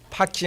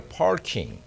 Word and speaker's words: parking: 파킹이 아니라 parking. 우리 호주 누님이 내가 영어 발음하는 거, 목사님 발음 좋대. 나는 외국인들도 내가 발음은 참 좋다. 난 파킹 아니라 parking.